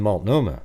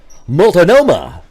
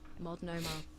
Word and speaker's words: Multnomah: I can say them: Tualatin, Tigard, Kaiser, and Multnomah. But idiots like herself would probably went Multnomah, or Tigard.